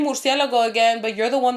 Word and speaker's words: murciélago: like, first of all, she's not even pronouncing it right. Yeah. She's like, because my mom says murciélago, but she was saying murciégalo.